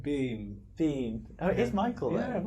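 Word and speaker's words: Biehn: It's like Bean.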